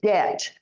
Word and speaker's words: debt: you don't lie okay say debt this B is silent so if they ask